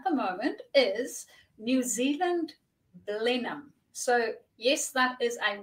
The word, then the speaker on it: Blenheim: as everybody else and decided that it is pronounced balloon so that's where I live um and I